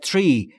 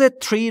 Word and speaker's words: tree: From as the tree. از اون درخته، از اون درخت مشخص. تلفظ tree رو دقت بکنید دوستان. تیری نیست. Tree. Tree. بین تی و آر صدایی وجود نداره.